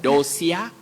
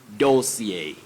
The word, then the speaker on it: dossier: It's a common word locally, but many people talk of dosia and some say dosia. That is wrong. When we are talking about a collection of important or crucial information about or on somebody or something, don't talk of a dossier or dossier.